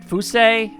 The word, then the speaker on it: Fuse: princess fuse profil like fuse is definitely not how it's supposed to be pronounced it's more like who say would say who see either way priestess of